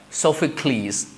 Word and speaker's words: Sophocles: Greek names from the Greek mythology they also pronounce the last e let's like Socrates right Sophocles Achilles Hercules right phibe so P okay p